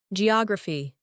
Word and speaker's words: geography: Geography, geography, geography. Also, giraffe, energy. We get that sound when letter G is combined with letters E, I, and Y.